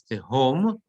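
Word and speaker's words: תְהוֹם: And again, it's tehom because the etnachta is on the under the hay.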